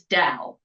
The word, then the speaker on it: Dao: It's only one syllable. And I don't want to mess it up. So, how do we say your last name? Let's start there. It is Dow.